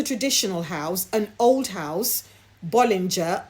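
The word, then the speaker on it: Bollinger: One was a traditional house, an old house, Bolinger or Bologon if I remember the uh uh proper French pronunciation correctly and the other house was Nicolola Friat.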